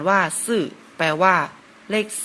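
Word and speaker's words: 四: สุด ครับ ปิด ครับ ภาษา จีน อ่าน ว่า ซื่อ แปล ว่า เลข 4 ครับ ต่อ ไป นะ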